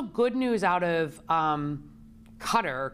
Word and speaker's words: Qatar: news out of um cutter qatar i think it's cutter you pronounce it that did a